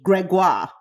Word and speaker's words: Gregoire: I'm going to say it right because my French doesn't French all the time. Gregoire.